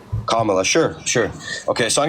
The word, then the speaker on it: Kamala: do you pronounce Sor it's kamla kamla sure sure okay so